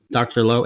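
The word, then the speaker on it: Dr. Lao: One of the things that might throw people off is that it's Dr. Lowe as an L-A-O. People in the film don't know how to pronounce it, so you're excused if you say Dr. Lowe.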